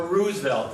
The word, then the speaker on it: Roosevelt: Roosevelt or Roosevelt?" He said, "Like the flower." It's Roosevelt.